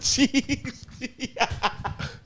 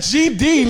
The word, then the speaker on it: GD: Nigga, it's a GD, not a GED, nigga. GED's the shit you get when you don't graduate high school. Oh, so the E is silent. It don't No, there's exist, no E.